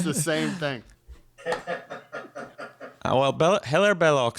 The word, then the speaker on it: Hilaire Belloc: In English, it is Hilaire Belloc. In French, it's Hilaire Belloc.